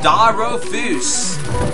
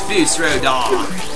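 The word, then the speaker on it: Fus Ro Dah: And you shall Daro Foos. But that's not how you say it. It's Foos Rodar.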